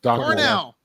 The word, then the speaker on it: Cornel: But yeah, so Cornel, now is it Cornel West or Colonel? How does he say his name? Cornel West. Cornel.